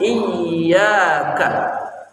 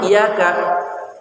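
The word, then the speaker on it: إِيَّاكَ: Di sana ada ya bertasydid, iyyaka. Jangan sampai bacanya iyaka. Iyaka, kalau baca iyaka artinya sinar matahari. Cahaya matahari yang kami sembah. Dan cahaya matahari yang kami mintain pertolongan. Kan udah gak bener itu. Iyaka, bukan iyaka. Iyyaka na'budu wa iyyaka nasta'in.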